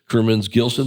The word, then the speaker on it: Kurmins Gilson: Thanks for coming in and joined by your friend and colleague and everything in between, Anita Kerman's Gillson. Did I pronounce that correctly?